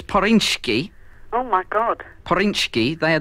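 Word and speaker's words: Zpyrswcki: Yeah, it's Poryński. Oh, my God. Poryński. They're the people who make it. I'll just spell that, then. Z? Z? I thought you said P. No, it's a silent Z.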